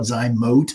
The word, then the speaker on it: Zote: for the positive about zot um um some call it zote I think Z OTE is technically the the correct pronunciation but we're lazy around here so it's easier for us to say zot don't tell them we